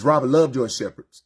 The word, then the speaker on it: Shepherd: And it's Robert Love your shepherds. S H E P H E R D like shepherd in the Bible or German Shepherd, right?